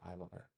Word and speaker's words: Ivar: the Irish annals and they spell it I M A R but it's still pronounced Ivar.